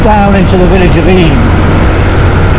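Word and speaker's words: Eyam: great taking us down into the village of e it's it's spelled IM but it's pronounced e the plague Village the inhabitant during the plate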